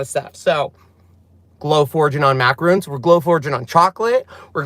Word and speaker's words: macarons: or Mac you know it's not macaroons macarons cuz you can glow